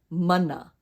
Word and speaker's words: mana: M and A is pronounced Ma just like in Maui repeat after me Mana manna Mai Kailua let's